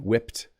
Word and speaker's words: whipped: desserts now in English you might hear someone say whipped cream without pronouncing the Ed this is technically incorrect